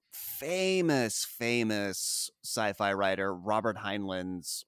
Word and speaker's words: Heinlein: an adaptation of famous famous sci-fi writer Robert heinlein's henlin however the you pronounce his name his book Starship Troopers hi